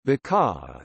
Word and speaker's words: Baccarat: Baccarat crystal, pronounced Baccarat, is a French manufacturer of fine crystal glassware located in Baccarat, France.